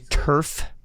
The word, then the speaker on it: Tuerff: Kevin, just to make sure, it's Tuerff. Yes, thank you for asking. Thank you. It's Tuerff, like AstroTurf.